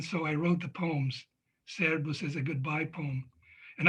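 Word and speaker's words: Szervusz: So Serbus is how you say it. I was told it's Servus, but in Hajdúnánas, I always heard it as Serbus.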